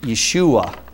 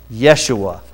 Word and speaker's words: Yeshua: The Hebrew version is, I'll try to pronounce it right, but Yeshua. Did I do it good enough, Bob? Yeshua.